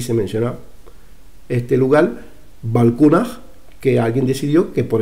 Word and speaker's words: Balkuunah: Pero es que no, no indica nada, no indica nada más que nos diga, está claro que Valcunaj es por cuna.